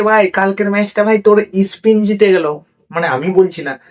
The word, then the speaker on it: স্পেন: আজরে Argentina আর স্পিনের final খেলা ঠিক আছে ভাই স্পিন খেলছিল নাকি ফিফাতে আমি তো শুনিনি। আরে মস্তান তুই মস্তান হবার আগে তোর উচ্চারণটা ঠিক কর। ওটা স্পিন না স্পেন হবে।